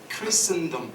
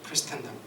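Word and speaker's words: Christendom: 자, 두 가지 정도 제가 말씀드리고 싶은데, 첫째는 뭐냐면, 여러분, 이게 되게 어려운 말인데 크리스텐덤, 이게 T가 묵음이에요, 원래. 근데 이제 한국에서는 보통 신학자들이나 목사님들이 그냥 크리스텐덤 이렇게 발음해요.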